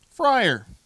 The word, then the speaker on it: Freyr: Freyr. Friar.